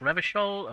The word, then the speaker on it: Revachol: Revachol is pronounced Revachol, Orania is pronounced Orania, Klasia is pronounced Klasia.